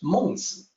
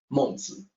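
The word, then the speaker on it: 孟子: The pronunciation in Mandarin is the same. The sage in Mandarin is Mengzi. The book is one of the 4 books and 5 classics, and it is also called Mengzi.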